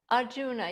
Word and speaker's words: Arjuna: I think it was yesterday's discussion, and how you pronounce his name, Arjuna. Arjuna, yes.